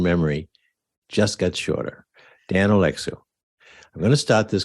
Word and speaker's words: Oleksiw: And he just told me how to pronounce it. My short-term memory just got shorter. Dan Oleksiw.